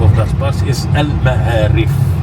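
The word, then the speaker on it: المعاريف: And the name of that bus is Al Ma'arif. El Maharif. Al Ma'arif, not Ha. If you said Ha, it's another meaning.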